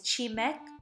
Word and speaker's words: 치맥: so what exactly is chimek it's the combination of the first syllable of two words chin which refers to any western style chicken and meu which means beer but when one just